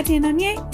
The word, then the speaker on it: Étienne Aigner: So but yeah, that's how to say Étienne Aigner, and that's also a little tip about what's going on in the fashion world with Étienne Aigner, the brand and items.